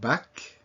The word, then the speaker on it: bac: So among those that are usually pronounced are the C. Repeat after me. Bac, mec, sac.